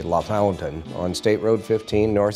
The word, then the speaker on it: LaFontaine: The town I grew up in is spelled LaFontaine, like Pat LaFontaine, but the Hoosiers in us all say La Fountain, on State Road 15, North Central Indiana.